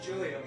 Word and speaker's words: Julia: Yeah, it's Julia. It's just the way you pronounce the J is you.